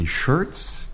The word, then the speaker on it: Schertz: A warm welcome to Mark Roberts from Schertz Auto Service in Schertz, Texas.